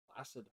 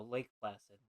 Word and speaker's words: Placid: that was like nice plid no Lake Placid that's how you pronounce that oh